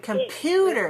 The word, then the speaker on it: computer: Computer is stressed on the second syllable. 3 syllables stressed on the second. Computer. Computer. Good. Now, the first syllable is weak. So instead of saying calm, you have to say kum, kum. Very short, very weak, reduced, compressed the sound.